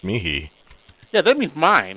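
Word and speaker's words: mihi: I remember where like the H in it is pronounced as a K. Really? Yeah. Like there's a word MI. I specifically remember this. And called it Miki. It was Mickey or something. No, that in uh Latin class that's pronounced mihei.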